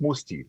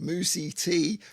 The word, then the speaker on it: Mousse T: and it's produced Mousse T. If you pronounce it really short like Mousse T, it's perfect.